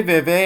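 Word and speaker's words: Vevey: از بالا ببینن دهکده ووی یا به تلفظ فرانسوی و و معروف به دهکده چارلی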